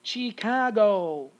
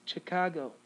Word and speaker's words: Chicago: going to pronounce it chicago no it's not it's chicago okay so you're going to have a schwa here okay instead of having an eye you're not going to